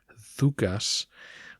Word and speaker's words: Doukas: And FYI, in Greek that name should sound more like Doukas, but I'll continue with the pronunciation we've established.